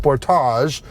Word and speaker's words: Sportage: new Kia Sportage or in Canada that's pronounced Sportage in that review we also